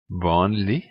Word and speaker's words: vanlig: Vanlig, merkelig. The next is silent letter is the letter T in definite nouns.